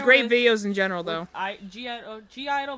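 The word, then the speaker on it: (G)I-DLE: G-Idol, but it's pronounced like Idol, but it's like spelled G-Idol.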